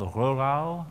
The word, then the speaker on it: Rohrau: Poor country boy from a town called Rurau. It's my best attempt at a German pronunciation in Austria.